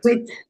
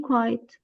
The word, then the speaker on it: quit: Pronunciation is quit. Quit. Not been. Been quiet.